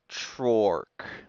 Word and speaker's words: Trork: It's a mix between troll and orc, which is two different pronunciations of the letter O. Tro and orc. Trork.